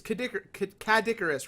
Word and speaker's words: Cadicarus: now it's Cadicarus, right? I always pronounce it wrong. No, you're cool. That's how you pronounce it. Yeah. Cadicarus. Yeah, it's just Kid Icarus, but backwards ish.